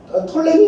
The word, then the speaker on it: 프톨레미: 거예요 그래서 셀러푸스만으로 와 프톨레미 풀을 발음을 안해가지고 톨레미 연주라고도 하고 투톨레미 연결하고도 하는데이 알렉산더의 그리스의 영향을 받은